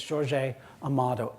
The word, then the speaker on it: Jorge Amado: northeastern Brazil in Portuguese the J at the front of the word is not pronounced like an H like in Spanish so it's George a a motto am a do and